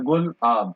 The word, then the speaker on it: गुलाब: Cyclone Yaas के बाद जो आने वाले साइक्लोन्स हैं वो है साइक्लोन गुलाब, जिसको प्रोनाउंस किया जाता है गुल आब, और ये नाम रखा गया था पाकिस्तान के द्वारा।